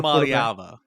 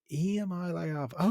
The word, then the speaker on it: Iamaleava: Can you give me a great pronunciation of his last name? 5-star Iamaleava. Iamaleava.